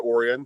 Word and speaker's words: Orion: Okay, it's Orion. Yeah, like the constellation. Yeah. I mean, it's also Orion, however you want to say it, man.